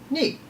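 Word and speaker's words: 二: Next we have ni. Ni is also very simple in the fact that it's very close to the number 1. It's the second most simple kanji. Ni has 2 strokes, the first one being smaller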